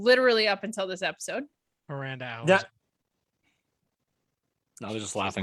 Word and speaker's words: Miranda Alize: Miranda Alize, whose name I've pronounced wrong literally up until this episode. Miranda Alize.